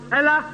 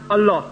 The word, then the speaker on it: Allah: We Muslims, when we write in English Allah, we write A-L-L-A-H. But Reverend Scofield wrote A-L-A-H. They pronounce Ella, we pronounce Allah.